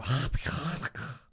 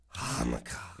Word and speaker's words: Hanukkah: So Hanukkah. That's how it's pronounced. Hanukkah.